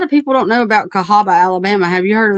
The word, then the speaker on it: Cahaba: Not it's not CAHABA like Cahaba Lilies or Cahaba Heights, which is in Alabama, but this is Cow. It looks like Cow Haba, CAW Call or whatever.